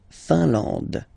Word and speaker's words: Finlande: I-N here, nasal, un. A-N, nasal, en. And then D, final E, not pronounced. La Finlande.